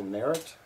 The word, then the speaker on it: Merret: groups i've created and my name is merritt it's spelt m-e-r-e-t and i'm looking for new facebook